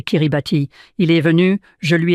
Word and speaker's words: Kiribati: Cela ressemble à Ti mais le ti se prononce comme un s. Donc c'est Kiribati.